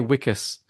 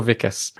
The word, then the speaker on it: Wikus: Africans they know that the W is pronounced as a v so not too often okay it's just on the unmade podcast you get called wikas yeah not anymore now you're vicus luckily all right now